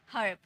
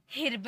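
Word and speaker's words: herb: उसके बाद र ब हर्ब इसे हिरव नहीं पढ़ेंगे ठीक है इसे ई मत पढ़ना हिरव नहीं पढ़ना हर्ब अ का साउंड आता है हर्ब germ वर्ब term okay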